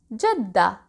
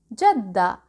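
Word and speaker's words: جدة: let's recap it briefly when we stop at ta marbuuta we don't pronounce it we say jadda jadda but when we continue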